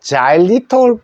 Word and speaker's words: xylitol: 맨 앞에 단어 철자가 x 그래서 요때 x 소리가 g 소리 났어요 g 그래서 자리라 합니다 요거는 아 소리죠 그래서 자이가 됩니다 그죠 자자리 해도 되고 자일 해도 됩니다 자리 자 그다음에 우리